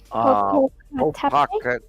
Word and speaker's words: Popocatépetl: Oh, it's Popocatépetl? Popocatépetl. Yeah, because there's a cat and a yeah, and there's 2 different words in the middle of the ending there, and if you just